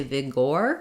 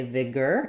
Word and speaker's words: vigorous: the G sound Vigor even though we have an o r here we don't say Vigor we say Vigor it's an ER monophthong and then ous just says the another schwa sound vigorous so I would write it like this girl us vigorous um yeah thank you that's